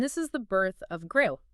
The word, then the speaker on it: Gqom: And this is the birth of Gqom, spelled Gqom, and pronounced with a deep, percussive click like Gqom.